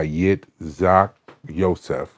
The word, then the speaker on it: Yitzhak Yosef: say the name Rabbi yet Zach y Rabbi y Zach Yosef okay he's in Israel all right so was